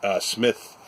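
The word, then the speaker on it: Psmith: It's Hutchinson, and these are Smith with a silent P, journalist, and Smith in the city.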